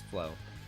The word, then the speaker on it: Flo: My first name is pronounced like Flo back in the 90s when chat rooms were huge. Oh, hell yeah. So I was right, it is Flo.